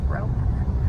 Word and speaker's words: Rowena: Rowena. And that's all from that's from the book Ivanhoe, because this Silver Lake used to be named Ivanhoe after the book Ivanhoe. Oh. And Rowena is a character in the book Ivanhoe.